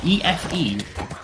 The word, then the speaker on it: Efe: like who's if evil how do you even pronounce that efe it's the new Valkyrie thank you it's the E with an F what efe not like uh office